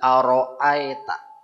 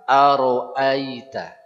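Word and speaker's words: أرأيت: kesalahan pertama pada a orang biasa baca aroita ya Aa Aro aeta begitu apa tidak Ya silakan diperiksa kepada diri sendiri kalau bacanya kayak gitu ada kesalahan meskipun bukan kesalahan yang fatal yang merubah makna mestinya Bagaimana Aro Aita Aro Aita ya Hamzah fathah ditambah Ya Sukun bunyinya a bukan a ya kemudian seterusnya banyak yang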